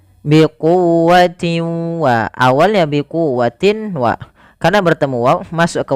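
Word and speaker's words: بِقُوَّةٍ: Suara tanwinnya masukkan kepada huruf waw dan ditahan. Biquwwatin wa, awalnya biquwwatin wa, karena bertemu waw masuk ke waw dan ditahan.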